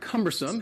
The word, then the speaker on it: cumbersome: word is cumbersome cumbersome the word cumbersome has three syllables the stresses on the first syllable what do you would